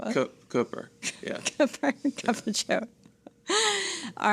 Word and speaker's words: Cooper: But Kyle reminded us that it's not a soft R, so. Koopa. I mean, that sounds, you know, that sounds more fun, I guess. And the thing is, I mean, Roy Cooper, he that's how he says his name.